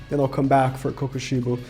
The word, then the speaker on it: Kokushibo: Let me first get Chrollo done, then I'll come back for Kokushibo. How do you say his name again? Kokushibo, I was correct.